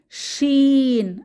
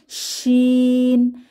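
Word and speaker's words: شين: জিহ্বার মধ্যভাগ তার বরাবর উপরের তালুর সাথে লাগিয়ে উচ্চারিত হয় শিন। তবে শিন উচ্চারণের সময় জিহ্বার মাঝখান তালুকে পুরোপুরি স্পর্শ করে না, কিছুটা ফাঁকা থাকে। শিন। এবং শিন হরফটি উচ্চারণের সময় আওয়াজ মুখের ভেতরে ছড়িয়ে পড়ে, সা সা একটি আওয়াজ মুখের চারপাশে ছড়িয়ে পড়ে।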